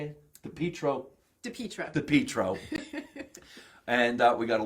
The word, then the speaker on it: Pietro: Pietro.